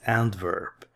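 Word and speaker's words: Antwerpen: Now in the Dutch language, W sounds like a V, so this is pronounced as Antwerp.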